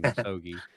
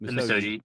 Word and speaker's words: Misogi: I've been pronouncing it wrong. I've been saying Misogi, but Misogi.